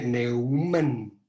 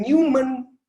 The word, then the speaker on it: von Neumann: Y como es alemán, se pronuncia Neumann. Yo no sé alemán, pero sé eso. Neumann von Neumann, así como lo escribió Manuel. Exactamente, gracias. Y es von, así pronuncian ellos la B, y Neumann, así pronuncian ellos la EU, es OI, porque es otro idioma, ¿no? Y por favor no digan Newman, porque Newman es otra cosa.